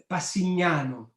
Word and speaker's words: Passignano: plans for the town of, I'm going to pronounce this wrong, so you correct my Italian, okay? Pasignano? Yes, Passignano.